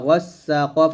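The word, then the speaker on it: غَسَّاقًا: এখানে গাসা বলবেন না, গয়ন মোটা করে বলতে হবে।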